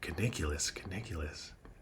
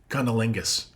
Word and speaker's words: cunnilingus: And you're pronouncing it wrong. It's pronounced cunnilingus.